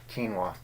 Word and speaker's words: quinoa: Quinoa. That's how it's pronounced, strangely enough.